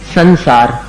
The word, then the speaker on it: संसार: इसी प्रकार संसार अब संसार में स के ऊपर का जो अनुस्वार है उसका कैसा उच्चारण है? न के समान है क्योंकि आगे सार है उसको मिलाना है स में संसार इसी तरह संवर संवर